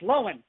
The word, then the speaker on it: Lohan: Now, the Lifetime TV movie, Liz and Dick, as Lindsay Lohan's doctor. No, notice I said Lindsay Lohan, not Lindsay Lohan.